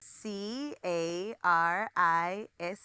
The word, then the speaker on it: Carissa: So it's C-A-R-I-S-S-A.